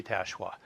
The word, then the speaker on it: Tachoir: Hello, here with Season 5, Episode 46 of Ask Tachoir.